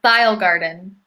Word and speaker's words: ThayilGarden: Oh, it's Thyle Garden. THAYILGARDEN, all one word.